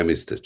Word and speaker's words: hemistich: It's pronounced hemistich. Am I correct in pronunciation? Yeah, hemistich.